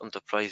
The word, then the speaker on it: Enterprise: rien on top 3 bien que le nom se prononce enterprise je vais parler en